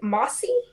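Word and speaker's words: Masi: got so it is a mossy m-a-s-i i think is how you pronounce it and um it's something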